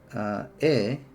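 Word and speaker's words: へ: The particle represented by he is actually pronounced e instead of he.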